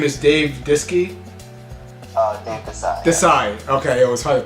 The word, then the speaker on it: Dave Disci: Dave Disci. Disci. Okay, it was hard to pronounce.